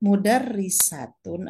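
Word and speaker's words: مدرسة: mengucapkan madrosatun atau mudarrisatun madrosatun adalah sekolah Hai mudarrisatun adalah huruf perempuan suhu katanya sama hurufnya sama mint dalam roh dan tak tetapi cara membacanya bagaimana Kapan membaca mudarrisatun Kapan membaca madrosatun ini ada pada ilmu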